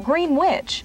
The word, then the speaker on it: Greenwich: of 1774 in fact the pronunciation green which is born of defiance to the English Greenwich this monument stands as